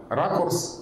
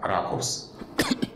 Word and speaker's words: ракурс: Допустим, у нас есть некоторое состояние языка, при котором правильно произносить слово «ракурс», привычное нам с ударением на «у», «ракурс».